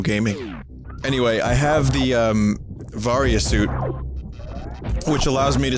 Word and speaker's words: Varia: Anyway, I have the, Varia suit, which allows me to survive these extreme temperatures. Now, you'll notice here that the Baria suit... I'm sorry, did I say Baria?